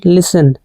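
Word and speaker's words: listen: इसका सही प्रोनाउंसिएशन है लिसन।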